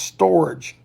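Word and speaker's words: storge: love and it's called it is called storage s-t-o-r-g-e pronounced storage and that word for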